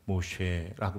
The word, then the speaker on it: 모세: 모쉐라고 발음하는데요.이 모세라는 발음이 히브리식 이름이라면 이거는 건지다 마샤라는 말에서 나온 거고요.